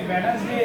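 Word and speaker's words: Wednesday: देखो मैं इसमें बता रहा हूँ बहुत आसानी से, जैसे वेडनेसडे है, वेडनेसडे में अपना डी आ जाएगा, डी आ रहा है, वेडनेसडे में डी बोल रहे हैं, नहीं आ रहा डी, साइलेंट है, डी आएगा इसमें।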